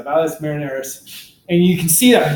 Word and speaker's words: Valles Marineris: I can never pronounce it right because there's marinara sauce. It's the Mariner Valley, or Mariner Valley, excuse me, Mariner. You know, the Seattle Mariners, everybody. So Marineris, yeah, Valles Marineris.